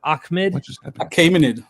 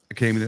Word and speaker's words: Achaemenid: here, Yahwism under the, how do you pronounce this? I always mess this up. Achaemenid. Achaemenid. That's the way I pronounce it, at least. Achaemenid. That's how I say it.